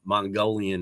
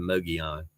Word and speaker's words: Mogollon: for a couple of days and I called Moggs Mongolian instead of Mogollon.